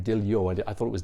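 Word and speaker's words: Diljá: She pronounces her name Diljo. I thought it was Dilja, but apparently that A with a line is like O.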